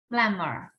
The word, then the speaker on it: plumber: B is a silent sound here, right?